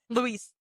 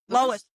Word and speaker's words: Lois: Louis. I think Lois? it's Lois.